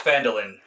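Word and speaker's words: Phandalin: I think you'll be at oh yeah it's fandolin you'll be there a lot speaking of fandolin I know that that's how it's pronounced because when they first bring it up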